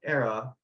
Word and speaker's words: Aera: So mine is just going to be around, you know, the Era product, because I saw a little bit about